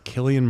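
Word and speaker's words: Cillian: Killian Murphy, did I pronounce that right?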